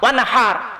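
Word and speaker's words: وانحر: ওয়ানহার এ গলার ভেতর থেকে হেটা উচ্চারণ করবেন। ওয়ানহার, ওয়ানহার, হে হে, হে নয় হে।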